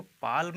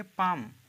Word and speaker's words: palm: ठीक है, PALM, तो इसको पाल्म नहीं कहेंगे, इसे आप कहेंगे पाम। पाम का मतलब हथेली, इसको पाम पढ़ा जाता है, ठीक है। एल यहाँ पे साइलेंट है।